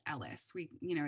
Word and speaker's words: ELHS: talking about ellis um it's pronounced ellis like ellis gray if you watch grey's